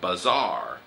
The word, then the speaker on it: bazaar: Then you go shopping at a bazaar. Bazaar. 買い物のバザーね。And how do you spell that?